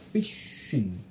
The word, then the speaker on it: fishing: I usually go fishing on Saturday night. 자, SH 발음은 네. 입술, 주둥이가 쭉 앞으로 빠져야 돼. Fishing.